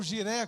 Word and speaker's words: Jireh: É aquela verdade lá do Velho Testamento, é o Jeová Jireh, ou Jiré, como alguns querem pronunciar.